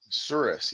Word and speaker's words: Souris: You are actually from Surrey, or how do they pronounce it in Manitoba? Souris? Surus, yeah.